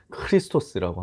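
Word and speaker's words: Χριστός: 그래서 정확한 발음으로 히브리어로는 마시아흐라고 하고요. 헬라어로는 크리스토스라고 합니다.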